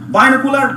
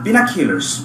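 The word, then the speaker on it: binoculars: কয় কি আলামিন, তো এটা মেলামিন, স্যালাইন সাইলেন, বাইনোকুলার বিনোকুলারস। আচ্ছা আমরা এই যে ভুল উচ্চারণ শিখছি এই জন্য ওদের উচ্চারণগুলো বোঝা যায় না, বুঝতে পারি না।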